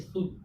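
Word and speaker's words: sulk: यू के बाद एल आया। एल क्या हो गया? साइलेंट। एल साइलेंट हो क्या बचा? SUK, सुख।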